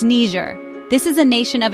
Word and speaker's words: Niger: And no, it's not pronounced the way some people on the news say it. Let's get it right, people. It's Ner.